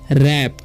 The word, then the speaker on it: wrap: उसी तरीके से WRAP है, तो इसे हम रैप नहीं पढ़ना है, ठीक है, इसे पढ़ते हैं हम लोग रैप, यानी कि W यहाँ पर साइलेंट है।